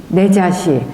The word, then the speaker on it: 내자시: 내자 내자시 이런 명칭은 예빈시 내 자시 이거 사라고 아니 안 읽어요. 관청일 때는 시라고 읽습니다.